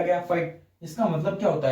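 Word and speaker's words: phyte: Fight, PHYT, fight, fight, fight pronounce होगा, FIGHT fight, वो नहीं, PHYT फाइट ऐसे ही प्रोनाउंस होने वाला है ये अदर वर्ड्स में।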